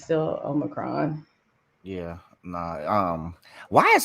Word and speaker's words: omicron: it's i'm saying it wrong but it's still omicron yeah nah um why is that word so hard for people to pronounce y'all omicron old macron yeah like it's not that difficult it's just somebody called it omnicron i was like jesus that's like a damn